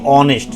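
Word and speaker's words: honest: হি is dash অনেস্ট ম্যান, এটার উচ্চারণ কি বলেছি? অনেস্ট। কি বলেছি বলতো? অনেস্ট। যেহেতু এখানে আমি উচ্চারণ করেছি আমি অনেস্ট, তার মানে এখানে হ কিন্তু আসেনি, তার মানে এখানে কি হবে?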